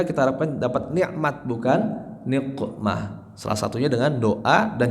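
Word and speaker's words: نقمة: Ilahi la ilahi salimil ummah minal afati wan niqmah, bukan ni'mah. Karena ilahi salimil ummah.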